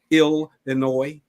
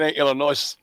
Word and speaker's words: Illinois: he's out of Chicago Illinois but how do you say Illinois something like that in the world did not pronounce that s oh they get mad